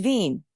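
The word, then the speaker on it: Wien: Vienna's German name is Vin, spelled W I.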